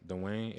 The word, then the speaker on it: Duane: Dwayne. Like Dwayne Wade.